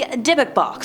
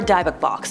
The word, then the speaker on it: Dybbuk: Next up, we have the Dybbuk Box, or Dybbuk Box. Depending on who you ask, the pronunciations are different all over the interwebs.